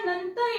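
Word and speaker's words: know: नियम खूप सोपा आहे के लेटर एन च्या अगोदर जर आलं एन लेटर पूर्वी जर आलं तर के नेहमी सायलेंट असत असतो एन च्या अगोदर एन च्या अगोदर नो याचा उच्चार होतो नो याचा उच्चार होतो नाईफ नाईफ कई म्हणायचं नाही ओके किंवा इथ कनो म्हणायचं नाही तर के त्याला केला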